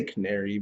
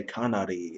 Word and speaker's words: Canary: just going to call i'm just going to say canary because even though that's not how it's pronounced it's just i'm not going to say kanari every single freaking time all right it